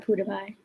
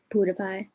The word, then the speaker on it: PewDiePie: you're stupid pewdiepie i said pewdiepie learn how to pronounce it i said it though i said pewdiepie so not my fault you're deaf anyway you're